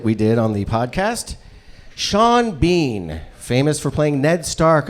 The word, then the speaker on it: Seanbhean: And Sean Bean, the word is one word, and it's spelled Seanbhean.